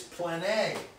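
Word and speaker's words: πλάνη: The word, therefore, delusion is plane, which is spelled like plane, but again, it's a long E.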